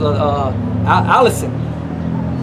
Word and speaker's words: allicin: If I'm not mistaken, the proper pronunciation it was as allicin.